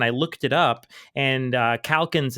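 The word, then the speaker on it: Calkins: a guy named dick calans I believe and I was not I was not familiar with that work and I looked it up and calans is spelled c a l k i ns but if you look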